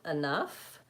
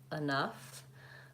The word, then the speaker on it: enough: okay Kathryn has a question can you please pronounce the word enough and usually okay so enough I tend to use a bow schhwaff making it that enough I think it's also in the dictionary with